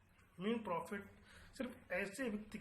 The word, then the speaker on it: mesne: Discuss new important topic, मीन profit. मीन profit जिसकी spelling है MESNE. इसका pronunciation होगा मीन प्रॉफिट. कुछ लोग उसको मेसने प्रॉफिट भी बोलते हैं, पर इट is wrong. It is called मीन profit.